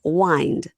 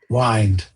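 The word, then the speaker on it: Wynd: are spelled wy n d wind but they're pronounced wind wind.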